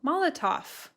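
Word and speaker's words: Molotow: Molotov.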